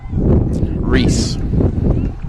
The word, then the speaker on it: Reese: Reese. Just straight up Reese.